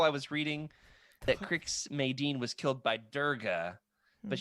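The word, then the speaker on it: Madine: Crix It's not Maydean. that hard. Yeah, Crix Maydean, General Maydean, the Darksaber. I actually need to reread the book. I think according to the Wook article I was reading, that Crix Maydean was killed by Durga, but she was angsty.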